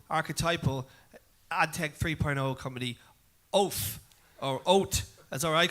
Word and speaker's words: Oath: it there Alex the the official pronouncation is oath oath right so do you